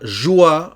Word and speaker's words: joie: La joie, attention ici, O-I, c'est O-A, et le E final ne se prononce pas.